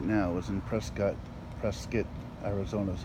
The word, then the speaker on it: Prescott: well, where I'm standing right now is in Prescott, Arizona is how they pronounce it.